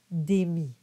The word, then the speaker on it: démit: Just make sure you don't pronounce the T at the end of démit.